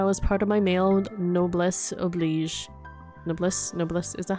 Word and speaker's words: noblesse oblige: How does this video pronounce it? Noblesse oblige. Okay, so I was saying it right.